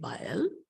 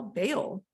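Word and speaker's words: Bael: to pronounce their name I pronounce bile's name bayel um but some people may pronounce bile bail that's that's fine that's totally fine not a big deal all right so the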